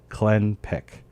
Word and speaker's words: Clenpiq: It's spelled CLENPIQ. Clenpic is how I settled on it. Turns out I'm right, but I'm like, are